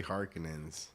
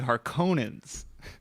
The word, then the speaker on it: Harkonnen: even remember they say harkenins uh-huh and in the other movie they say harkonnens i like harkonnen's better i think from what i've looked up is the author's true pronunciation is hearkening but i don't know